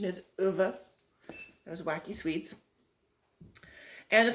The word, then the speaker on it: Ove: I listened to the book on CD, which is how I know that the proper pronunciation is Ove.